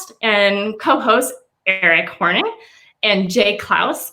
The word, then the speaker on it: Clouse: i just realized jay your last name is klaus yes it rhymes with the house and eric hornung gee